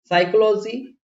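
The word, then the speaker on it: psychology: बाद एन आ जाए, ये साइलेंट होगा पी। साइकोलॉजी, साम, निमोनिया, टेरोडोडेक्टाइल।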